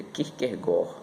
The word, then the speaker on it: Kierkegaard: E o centro da filosofia de Kierkegaard, que na realidade pronunciamos Kierkegaard, mas segundo um professor especialista nesse filósofo, ele diz que a pronúncia correta no dinamarquês é Kierkegaard.